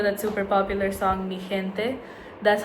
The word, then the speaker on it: gente: In some cases, like when you're saying this word, it's more like a H. So in this case, it's gente. And you might know that super popular song Mi Gente.